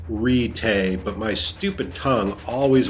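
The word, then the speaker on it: Ritae: expected to lead the perverted rite and it's pronounced ritay but my stupid tongue always wants to say write a of the sect why don't you just step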